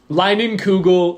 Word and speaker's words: Leinenkugel: Leinenkugel Summer Shandy.